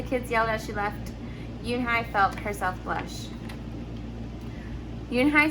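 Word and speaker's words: Unhei: it's spelled u n h e i it's pronounced yoonhai oh it's you hey the boy said like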